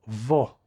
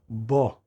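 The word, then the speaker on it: בּוֹ: The word that follows is vo, which is normally pronounced bo, meaning inside of him or within him.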